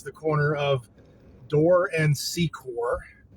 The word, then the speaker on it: Secor: This is the corner of Door and Secor, or as the GPS lady likes to pronounce it, Secker.